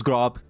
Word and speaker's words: Grob: It's pronounced Gover, by the way. No, it isn't. It's Grob. His name is Grob. His name is Grob. Grob. That's his name. I don't care, Grober, any shit. Grober is the incorrect pronunciation.